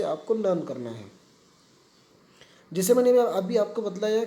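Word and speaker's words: هٰذَا: pronunciation and meaning of हाजा, कि हाजा इज़ प्रोनाउंस्ड हाजा बट इट is written without the first अलिफ, कि ये लिखा तो जाता है हा जा, लेकिन इसे हम पढ़ते हैं, ये लिखने में तो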